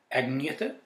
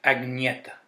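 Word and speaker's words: Agnetha: Here we have Ring Ring by Bjorn, Benny, Agnete, and Frida.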